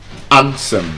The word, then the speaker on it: handsome: So for example we have it in words like handsome the D is silent.